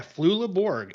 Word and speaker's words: Flula Borg: I said the name wrong or not, but Flula Borg? Is that right? Uh let's see here. Yeah, Flula Borg.